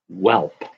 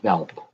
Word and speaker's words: Welp: Purvis Short, Sam Mitchell, and Christian Welp. But I think it's pronounced Velp.